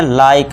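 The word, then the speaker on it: like: Last में इ है। तो इसे क्या पढ़ेंगे? लाइक। बस यहीं तक इ को हम पढ़ेंगे नहीं। लाइक।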